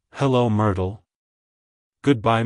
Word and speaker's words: Myrtle: soften the art sound the T is then pronounced softly almost like a d like hello Myrtle good by Myrtle if you found the